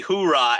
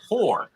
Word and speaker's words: Hoorah: company Hoorah out there. Cool. I don't think you. I so- think you mispronounced it. It's whore. No, Hoorah! Our annual pep rally is in Scottsdale.